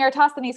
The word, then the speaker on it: Eratosthenes: yay thanks dave i get bonus points for pronouncing eratosthenes correctly i spent a lot of time on